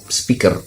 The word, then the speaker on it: speaker: nama-namanya adalah speak speaker tulisannya supaya ke bacanya speaker oke nah kemudian terakhir apa